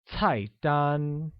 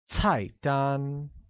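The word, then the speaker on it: 菜单: look menu translates to type done which is pronounced with a falling tone on the first a and a high level tone on the second can you say that once again its height done very good similarly order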